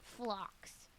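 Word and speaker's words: phlox: It's spelled F or No, it's not F. That's what I always say. P H L O X. Flocks.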